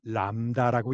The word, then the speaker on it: 람다: L에 해당하는 그리스 문자로 읽을 때는 람다라고 읽습니다.